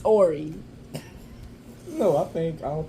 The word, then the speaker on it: Horry: what is wrong with you we don't pronounce it it's Ori no I think I don't think you'll see